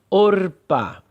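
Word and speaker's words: עָרְפָּה: E sendo o kametz katan, o som será o ou ó.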